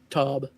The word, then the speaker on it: Tub: All right, and um do you say your last name is Tob or Tub? Tub. Tub. Okay, I've been saying it right then.